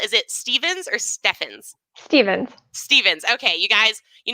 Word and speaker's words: Stephens: Stevens. Stevens. Okay, you guys, you know I'm terrible. I never ask the pronunciation beforehand.